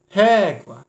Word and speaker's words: régua: Régua. Sílaba mais forte é essa ré.